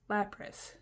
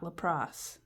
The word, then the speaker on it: Lapras: And that is exactly how you say it, and you can't tell me otherwise. Lapras, not Lapras.